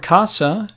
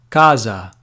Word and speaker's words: casa: note here is that when the letter s is between vowels it can be pronounced as a voiceless consonant so the standard pronunciation